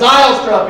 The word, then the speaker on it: Zylstra: It's Zylstra, people.